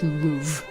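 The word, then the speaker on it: Louvre: We literally say the louv museum in in American English. We don't pronounce the re e like at all. It's just louv. There's like a breath at the end and that's it.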